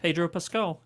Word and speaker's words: Pascal: world coming to wait how do you say it Pascal Peter Pascal well this is one thing where I guess I've been saying it right this whole time skull Pedro Pascal yeah okay all right